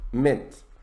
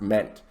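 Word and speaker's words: -ment: at the first one mint that's pronounced mint not pronounced meant mint mint at the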